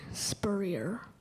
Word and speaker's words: spurrier: also visited a spurrier am i saying correctly spurrier correct s p u r r i e